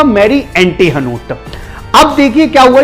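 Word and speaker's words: Marie Antoinette: ये मैरी Antonia का French में प्रोनाउंसिएशन हुआ मैरी एंटीहनोट।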